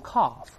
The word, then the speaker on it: calf: 这个 one young calf，当然英国人读成 calf，美国人读成 calf，那 L 不发音的，那它表示什么呢？